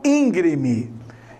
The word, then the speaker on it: íngreme: Olha, esse terreno é muito íngreme. É muito acidentado, né? Não é íngreme.